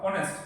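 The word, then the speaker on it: honest: sorry একটা word শুরু হয়েছে কি কনস যেমন অনেস্ট খুব বিখ্যাত একটা ওয়ার্ড অনেস্ট অনেস্ট দেখে অনেস্ট ওয়ার্ডটা স কি কনসোনেন্ট হ্যাঁ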